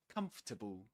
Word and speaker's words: comfortable: Comfortable. Comfortable. Yeah, just three syllables.